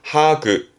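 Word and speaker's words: 把握: 하그, 하그. 앞글자는 장자입니다. 장악하네요. 손바닥 장이거든요. 그래서 손바닥에서 나오는 바람을 장풍 그러죠. 그 장자입니다.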